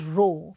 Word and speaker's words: rho: the proportionality constant as rho. Students, this symbol is pronounced as rho.